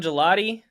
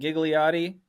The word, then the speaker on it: Gigliotti: Well, I'm Gigliotti. Most people call me Gigliotti, but it's actually pronounced gelati, like the ice cream.